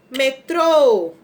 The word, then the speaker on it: metrô: o acento vamos lá qual é a sílaba tônica sílaba forte pra gente nem ficar um dia o assento a gente pode chamar palavra metrô então o acento vai ser no final então ela era metro